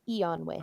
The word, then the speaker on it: Eonway: Is that how you say it? Yeah, Eonway. Okay, Eonway.